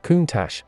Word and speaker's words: Countach: of the name countach it is pronounced kuntash and its literal translation